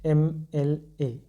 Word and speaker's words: MLA: भले यहाँ पे एम अपने आप में कॉन्सोनेंट है लेकिन उच्चारण कैसे हो रहा है, ए से हो रहा है, तो आप क्या लिखेंगे, ही इज़ एन MLA।